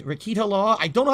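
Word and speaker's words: Rekieta: Rakita. Rakita Law.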